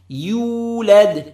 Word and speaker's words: يولد: Common mistake is to say يو. يولد. يولد. That's wrong. يو لد. يو. Extend the lips. Make them. The shape of the lips becomes like a circle and say it correctly. You, you, then led, not lod, led.